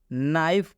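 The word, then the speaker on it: knife: नाइफ का मतलब बताएं जब भी केक के बाद एन आता है तो इसके का उच्चारण नहीं करना है बात समझ में ए रहा है एन से हम लोग पढ़ना शुरू करेंगे नाइफ का मतलब होता है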